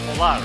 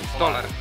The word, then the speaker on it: Tolar: It's Tolar, right? You pronounce like that. Tolar. Tolar, yeah. Tolar, yeah. Tolar, okay, cool. Here like it is. dollar. You know. Oh, it's like dollar.